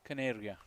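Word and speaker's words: Kaneria: It's Desh Caneria. Canary. Like a canary. Like a bird.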